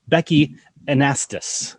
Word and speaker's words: Annastas: With Becki Annastas.